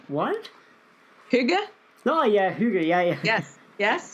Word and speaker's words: hygge: Hygge?